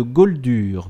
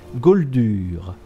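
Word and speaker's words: Gauldur: Google comment déclencher la quête de l'amulette de Gold dur gold dur ça s'écrit G a u lur r goldure parce que je ne sais plus comment la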